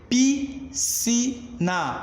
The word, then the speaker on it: piscina: Foneticamente, eu pronunciei piscina, ou seja, eu deixei de pronunciar o meu S, logo vou incorrer, né, no meu dígrafo, beleza?